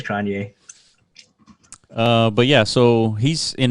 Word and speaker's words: Cronje: I mean, he's got a J, dude. That J throws me off. Yeah. I don't know if you pronounce it like a Cronje. Yeah. Cronje? I don't think so. I think it's Cronje.